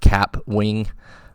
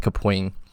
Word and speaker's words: Kapwing: called kapwing even though it's spelled like cap Wing but it's actually pronounced kapoing and you can actually